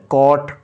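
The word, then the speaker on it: caught: जैसे सी ए यू जी एच टी, हालांकि यहाँ पे जी जो है साइलेंट है, यहाँ पे कॉट।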